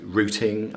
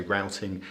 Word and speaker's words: routing: I think you know we would always say routing an American would say routing and I think it's